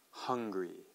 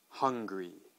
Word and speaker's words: hungry: uh angry angry okay so it's really the the main sound is that vowel sound at the beginning and it's quite different we have the kind of the flat a sound and angry and flat U sounding hungry all right great so